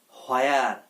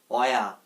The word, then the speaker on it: where: হয়ার। হয়ার। আরে বাবা, হয়ার বলবো না, হ আসবে না, এটার উচ্চারণ হবে অয়া।